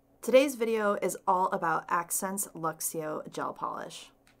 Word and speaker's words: Akzentz: this company this is accents so it looks like this right here a kze and T Z and that's pronounced accents and they're from Vancouver